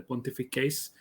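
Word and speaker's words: pontifices: the pontificis of novoroma the pontific case in classical pronunciation and as such we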